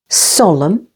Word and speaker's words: solemn: Solemn, with the stress on the first syllable.